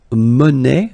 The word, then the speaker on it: monnaie: Then la monnaie, monnaie, okay, final not pronounced, la monnaie, okay, and it means small change.